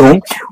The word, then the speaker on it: whom: হুম, হুম মানে হয় অসুকার হুম, উচ্চারণ হচ্ছে হুম।